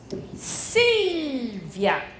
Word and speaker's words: Silvia: 发音是 Silvia Silvia Silvia Silvia Via Via 是一个音节 Via Via Silvia Silvia OK, grazie Come ti chiami?